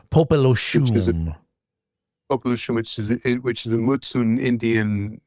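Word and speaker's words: Popelouchum: and another one called Popolochum. Am I pronouncing that correctly? Unfortunately, not. It's actually Popolochum, Popolochum.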